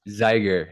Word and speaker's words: Zeiger: Zeiger. It's like tiger, rhymes with tiger.